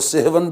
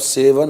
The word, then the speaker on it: سہون: جی سہون، اور وہ سہون بگڑ کر اب سیون ہو گیا ہے. جی اصل تلفظ ہے اس کا سہون.